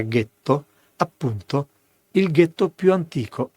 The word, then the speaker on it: ghetto: per gli ebrei tedeschi la pronuncia era Ghetto appunto il ghetto più